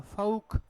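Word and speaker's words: folk: of income ठीक अच्छा कुछ वर्ड जिसमें क्या भी ला एल क्या भी साइलेंट होता है बोला नहीं जाता स्पेलिंग में तो होता है एल ब ल का उसका उच्चारण नहीं होता है ठीक है क्या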